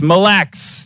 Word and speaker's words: Mille Lacs: Mille Lacs Mille Lacs someone in my ear just said it's Mille Lacs don't separate it so sorry I'm from